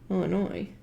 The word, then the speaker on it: Illinois: you're um someone from illinois i appreciate that you don't pronounce the s i am french and